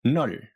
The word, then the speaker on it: 넓: That first syllable alone is pronounced 널, even though there's a b at the end of it.